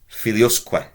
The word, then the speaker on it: filiusque: And the other thing to note about this, we're told in the grammar books that the stress goes on the syllable immediately after the que. So us there. Normally it's just filius, but filiusque.